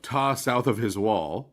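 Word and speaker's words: Ptah: We have this paralleling of Tais, right? Ta from upper Egypt, the god Ta, which is spelled with a pt ah usually in English uh being paralleled with Rey, the sun god.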